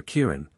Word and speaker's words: Kirin: menuria as far as gyen or Kirin according to the southern pronunciation many rivers in Asia